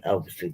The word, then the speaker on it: Elveston Castle: I mean, where I grew up was a place called Elveston Castle. It's spelled E-L, whatever. Instead of Alveston Castle, it's Elveston with an E.